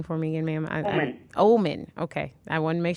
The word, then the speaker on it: Ohman: say your last name for me and ma'am omen okay i want to make sure i was